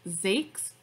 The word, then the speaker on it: Zakes: his first name is pronounced zake's one syllable zakes and his last name